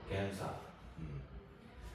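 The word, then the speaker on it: 検査: 요거는 이제 우리가 니은으로 발음을 해줍니다. 니은으로 겐사.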